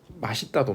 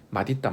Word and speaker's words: 맛있다: 자, 그렇지만 음절의 끝소리 규칙의 어떤 환경에 따르면 멋있다가 올바른 발음이 되겠죠. 똑같습니다. 맛있다도 마찬가지입니다. 맛있다, 맛있다.